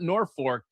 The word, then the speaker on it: Norfolk: And so instead of being Nork, Nebraska, which many people do call it Norfor, it's spelled Norfolk.